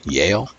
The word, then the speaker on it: Yale: because the college for yell I yell I'm I guess I'm stolen I'm pronouncing that right Yale yeah Yale University there's a lot of